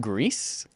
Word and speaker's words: Gris: It's pronounced Grease, not Gree, like I was for the last month and a half.